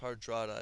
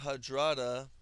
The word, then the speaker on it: Hardrada: It's pronounced Hardrada, I believe.